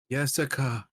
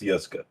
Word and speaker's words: Yeska: Her name is Yeska. Jessica. No, it's pronounced Yeska.